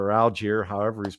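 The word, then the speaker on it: Allgeier: this is not the podcast to get your pronunciation straight which is dwight's supposed to delete this it's algier but you know hey we how long did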